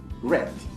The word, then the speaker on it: read: in the past participle how we pronounce it red like remember this like the red color okay 17 i often